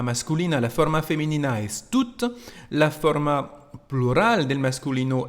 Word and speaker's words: tout: J'ai pris tout l'argent. L'argent en francés aquí es masculino. Así que la forma normal es usar tú y claro que no se pronuncia la T final.